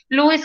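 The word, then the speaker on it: Lowe's: en louis lo necesite se pronuncia louis company que si ustedes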